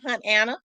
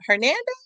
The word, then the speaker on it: Hernando: I said, "Hunt Anna." She said, "Hunt Anna, Hernando." Yeah, Hernando. I didn't know no better. From that point on, I started pronouncing it right.